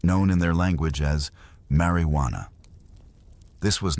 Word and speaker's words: marijuana: The term marijuana, often pronounced with a soft rolling R, was initially a descriptor for a specific preparation of the plant.